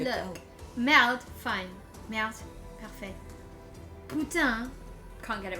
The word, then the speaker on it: putain: Qu'est-ce que Putain. c'est? Putain. On the same. Putain. Putain. So I'm getting other like conflicting. Putain. I love it. This will be useful. No, last syllable. So it's putain.